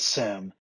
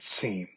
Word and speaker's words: SIEM: you need a refresher you might have heard it pronounced as sim we pronounce it seem for us it's more